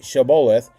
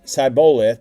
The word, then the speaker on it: Shibboleth: They told him, please say Shibboleth. If he said Sibboleth, because he could not pronounce it correctly, they seized him and executed him at the fords of the Jordan.